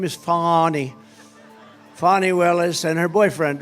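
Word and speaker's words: Fani Willis: right has anybody fonny it's pronounced fonnie F A ni I that's Fanny but she likes it fonny when she became the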